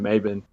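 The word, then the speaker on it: Mebane: about this story but Brandon Maybin and I could be pronouncing that with a little bit of a country draw but it's Brandon mavin he's our number one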